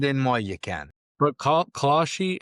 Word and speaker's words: Kalshi: But Kalshi, how do you say it?